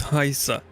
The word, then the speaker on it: Heisa: Yeah, it's not Hayes. That's how I used to pronounce it too, but like when he told me it's Heisa.